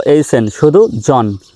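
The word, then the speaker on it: John: এইচ এখানে আছে তো এইচ এর উচ্চারণ কিন্তু হবে না সাইলেন্ট থাকবে জে ও এইচ এন শুধু জন জহন নয় জন হিট মি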